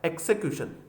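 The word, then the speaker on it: execution: उसके बाद में जहां कहीं भी TION दिख जाए, उसका जो प्रोनाउंसिएशन होता है वो ये होता है से, ए और ने। तो इसका होगा एक्सिक्यूशन, एक्सिक्यूशन, ठीक है।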